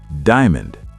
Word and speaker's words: diamond: Word number 9, diamond. Diamond. 3 syllables? No, 2 syllables.